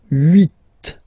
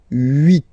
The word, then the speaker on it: huit: Then here, final T is pronounced, so huit, huit.